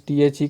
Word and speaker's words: the: है थू आया है तो इस द को दाना बोल करके हम क्या बोलेंगे दी अर्थ दी इसको उच्चारण किया जाएगा उसी तरह से एंड